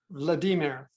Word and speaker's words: Vladimir: Vladimir. Okay. So it's like Vladimir, and the I's are pronounced as E's, as it is in a lot of languages.